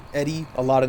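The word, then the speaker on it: ED-E: The game pronounces it Eddie and EDE, but some people call him Edie, some people call him Eddie, some people call him EDE.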